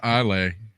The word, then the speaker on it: Islay: I believe it's just pronounced Islay. Islay Scotch. I think. I don't know. S is just silent.